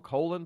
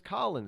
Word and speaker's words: Colin: We call him Colon Powell. We don't say Colin Powell. I have a friend from high school whose name was Colin.